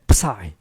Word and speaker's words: psi: 그래서 요 phi에서 phi b를 뺀 psi. 얘를 psi라고 읽어요.